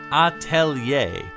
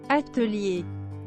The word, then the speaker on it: Atelier: of the word, and I think we can all agree that it is not pronounced atelier, which was another pronunciation version that I found just for the English word, which...